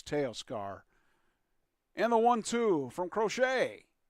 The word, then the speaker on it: Teoscar: I heard several different pronunciations for him, but I think it's Teoscar.